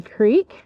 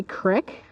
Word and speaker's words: creek: On the back side of the berm, we have a creek or a crick, depends on where you live and how you say it.